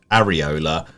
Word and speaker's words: Areola: Apparently, Ben, Bournemouth's manager is called Iraola. West Ham's goalkeeper is called Areola.